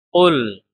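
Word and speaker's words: قُلْ: Qul, ini sebagaimana pada surat An-Nas kemarin. Qaf hati-hati ya, bukan kaf.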